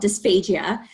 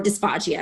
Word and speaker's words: dysphagia: a condition that is called dysphagia or dysphagia it's pronounced two different ways properly i recently learned um